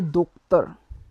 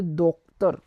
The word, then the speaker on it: docteur: So to doctor we will say docteur. In French we will say docteur.